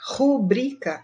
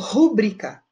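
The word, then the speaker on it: rubrica: vejamos algumas palavras que causam dúvida quanto a pronúncia ou seja ocasionam erros de prosódia olha lá o brica rubrika é o correto só que eu já vi muita gente falando pública e não pode cobrir tá correto pública completamente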